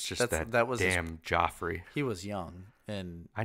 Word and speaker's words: Joffrey: pronounce it wrong right call him Jeff that's not his name is it's not Jeffrey its Joffrey its G it just bailed like Jeffrey with a G it's spelled like Joffrey G its Gio e